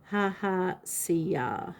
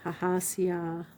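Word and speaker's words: Hahasiah: The pronunciation of this angel is Ha-ha-sia. Ha-ha-sia. Ha-ha-sia. Ha-ha, see ya.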